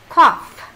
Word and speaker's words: cough: Nha, vậy là chữ GH, các bạn để ý cái chữ GH đó của cô. Cái chữ GH đó là chữ F. Khi phát âm nó khi phát âm cái chữ đó là chữ F đó. Cough. Cough. Đây. Cough. G O U G H, cái chữ G H này đọc là F.